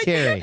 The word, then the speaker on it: Carey: It's spelled like you would say Carey.